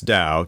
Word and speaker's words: Dao: what the Dao is so it's da Tao pronounced da and the Dao is